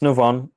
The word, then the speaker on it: Nuvon: Is that how you pronounce it? Yes, it's Nuvon.